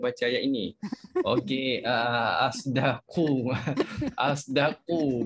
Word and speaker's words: أصدق: Asdaqu bacanya macam mana? Bocor. Okey, yang Umi buat tadi, kalimah asdaqu itu adalah bacaan ismam. Sod ismamkan sod dengan dengan zai, itu campuran suara bunyi huruf sod dengan zai menjadikan satu bunyi huruf za.